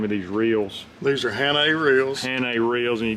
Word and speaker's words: Hannay: And by buttons, it's just these little here, how do you pronounce the name of these reels? These are Hannay reels.